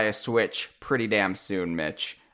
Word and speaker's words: Mitch: Now, I'm obviously going to have to buy a Switch pretty damn soon, Mitch. Your name rhymes with Switch.